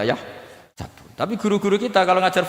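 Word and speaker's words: يحسب: Karena dalam qiraat sab'ah ada yang baca yahsibu, qiraat kita baca yahsabu.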